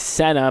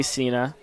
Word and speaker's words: Cena: But he said, I'm afraid of saying your last name wrong, which is Senna, but it's spelled with a C. And because of the wrestler John Cena, everybody likes to say Cena.